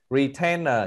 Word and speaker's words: retainer: N tròn cái lưỡi lên. N. Retainer. Retainer, nhấn âm hai.